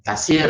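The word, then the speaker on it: تيسير: Tusaid ini bacanya tasir, ya, tasirul amr, tasirul amr ala akhin inda bisultan, membantu memudahkan urusan sesama manusia bagi yang berkemampuan.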